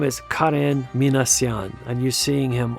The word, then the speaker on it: Karen: So Karen Minasyan, and by the way, that's the way you pronounce it. It's not Karen, but Karen. There is no Karen in Armenian, so it's only Karen.